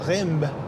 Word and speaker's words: Reims: going to head towards a place called Reims, as we say in the UK, or Rindt in France.